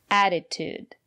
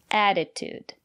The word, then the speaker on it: attitude: here's another word attitude the first letter T is pronounced as a fast D because the syllable after the letter T is not stressed add it attitude and the second letter T is pronounced as T attitude it's important to have